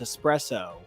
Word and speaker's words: espresso: I think like 40% of people learned how to properly pronounce espresso in this moment, because there's no X in her pronunciation.